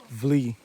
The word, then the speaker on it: Wli: starts with W pronounced flee in ever W is pronounced V as a V sound so it's four or